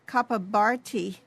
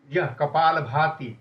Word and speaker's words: Kapalabhati: The Kapabharti, is it called? Kapalabhati. It's not Bharti. Kapalabhati.